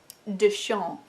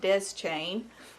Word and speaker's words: Deschain: I looked it up it is a French surname pronounced DeSean I feel a little bit like an idiot having said best chain forever but it's finished